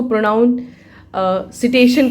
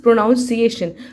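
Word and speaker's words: pronunciation: रहे हैं तो नेसेसरी हम ऐसे बोल पाएंगे प्रोनाउंसिएशन होता है। वह लोग उसको प्रोनाउन अ सिटेशन कहते हैं। मैंने काफी लोगों को सुना है। तो सिटेशन नहीं इट इज़ प्रोनाउंसिएशन।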